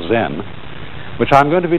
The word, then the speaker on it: Zen: Zen, of course, is a Japanese word, and it's spelled Z-E-N. And that is the Japanese way of pronouncing the Chinese word Chan.